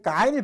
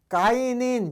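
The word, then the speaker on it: غين: 가인은 이제 아이가 똑같은데 그 가발을 바꾸면 돼요. 가인.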